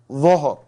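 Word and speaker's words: ظهر: But the Dhuhr, they think it is Zuhr. It is Dhuhr.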